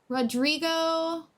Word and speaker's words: Rodrigo: Rodrigo, the I should be a bit more of the long E. First O is silent.